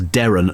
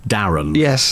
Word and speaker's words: Derren: you see makes it you have to do the emphasis to make sure it sounds Darren not Darren which is better so